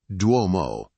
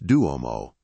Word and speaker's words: Duomo: It's Duomo, not Duomo.